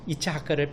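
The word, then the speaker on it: יצחק: 이삭이라는 말이 우리 한국어에서는 이삭이지만 히브리에서는 이츠하크입니다. 이츠하크를 빨리 발음하면 이게 한국 사람 귀에는 이삭이라고 들리는 것이죠.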